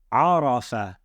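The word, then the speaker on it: عرف: And all of the letters have a fatha above them. So we would pronounce this word as arafa.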